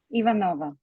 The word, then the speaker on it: Ivanova: Ivanova.